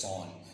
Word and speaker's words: JSON: encoding to Jon Jon creator of Json wanted it to be pronounced as Jon you might have heard